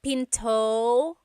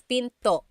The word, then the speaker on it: pinto: is p and remember don't forget the glot stop don't forget to stop the sound at the end that's called a gladle stop p P it's not Pinto it's Pinto stop it at the